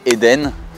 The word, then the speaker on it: Hadean: session, it was cool How do you say "edine", "adéane", "hédeun"? - In France there are some who say "there dines" there are some who say "eden" in Australia we say "Hadean" - We would first